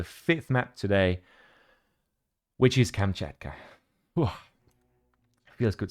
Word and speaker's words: Kamchatka: And this is the first time that I actually get to announce the 5th map today, which is Kamchatka. Whew. Feels good saying that. Although I probably butchered the name again.